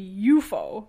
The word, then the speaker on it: UFO: in the translation but the way that a Japanese first word pronounced UFO would be you foe like just one word like an actual word instead of saying the letters like an acronym so - Yuki UFO